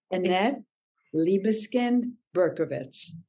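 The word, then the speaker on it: Annette Libeskind Berkovits: name correctly yes you are awesome okay I'll pronounce it for you just and for your listeners maybe Annette liebuskin berkovitz thank you so so much I'm really glad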